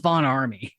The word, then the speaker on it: Von Ormy: the end, and so it's v o n o r m y, and it's pronounced Von Army. Von Army.